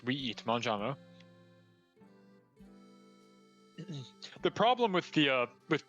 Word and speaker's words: mangiamo: The verb for we eat would be mangiamo, I-A-M-O, M-A-N-G-I-A-M-O, mangiamo.